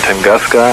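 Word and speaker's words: Tunguska: Tangaska, I think it's pronounced.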